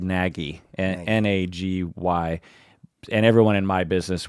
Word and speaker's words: Nagy: It's spelled Nagy, Nagy.